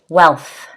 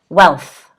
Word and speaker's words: wealth: to the next word wealth wealth the th sound can be quite a difficult one for english learners all right it's a